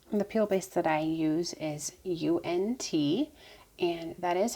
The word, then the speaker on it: UNT: base the peel base that i use is unt and that is how it's pronounced because i asked the company finally for